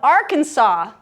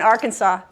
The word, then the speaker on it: Arkansas: What's the silent letter in Arkansas? S.